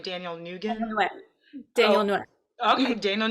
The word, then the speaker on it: Nguyen: And also your co-star, Daniel, I don't know how to pronounce his last name, Daniel Daniel Nguyen. Nguyen.